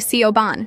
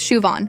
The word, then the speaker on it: Siobhan: It's Win and you call me Sioban." Siobhan added, it's Shuon.